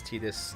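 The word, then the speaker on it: Tidus: enough to me i know it's tedious i don't care they can say his name is tdis until they're a little blue in the face but it doesn't mean his name being titus fits so much better with the theme of the game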